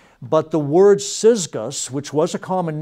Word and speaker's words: Syzygus: you'll see that it's an almost impossible to pronounce in English first name. S-Y-Z-G-U-S, Syzygus. Again, not a very common one in our culture, right? But the word Syzygus, which was a common name, literally means yoke fellow.